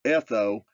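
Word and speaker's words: ἔθω: The Strong's Exhaustive Concordance definition for custom/manner is Greek Strong's number 1486, etho, pronounced etho, meaning to be used.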